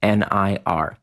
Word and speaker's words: Nir: Now remember is spelled like my first name nir.